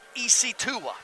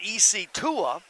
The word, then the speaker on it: Isitua: the game is chooks isitua and that is spelled chooks is spelled c-h-u-k-s and ec tua is spelled just like it doesn't sound i knew it was